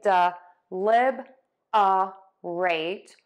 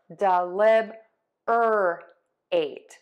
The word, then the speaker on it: deliberate: So you can say dɪˈlɪbərət or dɪˈlɪbərət. Okay, so it just depends on where you want to put that R. So when you say it quickly, you are going to stress syllable two and syllable four.